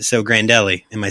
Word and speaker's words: Grandelli: out yeah that's fine yeah all right so grandelli am I saying that right yeah you didn't want to do a mangled Italian pronunciation for that oh yeah